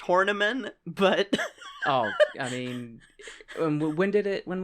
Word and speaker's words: Horniman: about the name, Roy Hornyman. Woo! Yes! My dude. I'm sure it's pronounced Horniman, but...